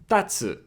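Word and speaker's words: たつ: And here it's funny because if you stress the first character, tatsu, it means to stand. But if you reverse the stress and you put it on the second one, tatsu, tatsu, it means the dragon.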